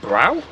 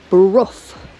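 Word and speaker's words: Brough: this one Nicholas oh that looks like brow no Bruff R so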